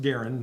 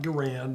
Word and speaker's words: Garand: Well, you know, basically you have the M1 Garand, and it is pronounced Garand, not Garand, not other ways. Mr. Garand himself said it's pronounced Garand.